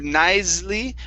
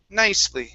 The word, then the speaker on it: nicely: is nice and so instead of nicely with the z sound okay this is going to be an unvoiced s nice nicely nicely all right very good